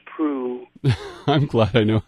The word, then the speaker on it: Proulx: today oh I'm glad you know how to pronounce proof I'm glad I know how to pronounce princess